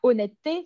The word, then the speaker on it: honnêteté: On enlève le E, on ne prononce pas.